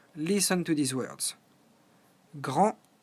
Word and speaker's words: grand: Grand, grande, grand, grande. As you know, in French, the last consonant, in this case the D or the S, are silent.